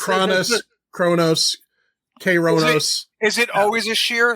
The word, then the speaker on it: Kronos: This whole episode is going to be us fucking up pronunciations of That's fine. It's Kronos, Kronos.